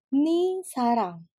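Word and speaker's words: 네 사랑: Sehingga ne sarang yang bentukannya cintamu sering orang Korea bilang sebagai ni sarang, cintamu. Bacanya atau diucapinnya aja nih yang bunyinya ni, tetapi tulisannya masih tetap ne sarang.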